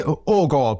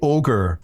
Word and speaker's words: Aagaard: Because if I say Aagaard, people immediately say ogre, which is not too flattering.